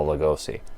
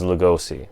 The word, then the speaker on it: Lugosi: But where we're going to get into trouble is Lugosi, which apparently, according to Brian Bela Schoenberg, or whatever his name is, should be pronounced Lugosi. Lugosi. Well, Lugosi. Nobody fucking does that, and neither Bela are we.